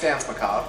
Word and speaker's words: Danse Macabre: It's Danse Macabre, yeah. Danse Macabre. Yeah. The R is silent.